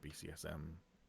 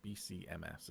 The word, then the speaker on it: BCMS: Wait, no, it's not BCSM. It's BCMS, isn't it? Medical Services. It doesn't sound that close to the four-letter acronym. It's just if you say it wrong, it sounds very close to that four-letter acronym.